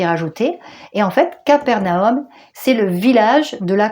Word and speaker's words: Capernaum: voilà comment ça s'écrit alors ça c'est en français on dit Capernaum sinon ça se dit CFAR qui veut dire village et narumm vous voyez ici là naroum ici il y a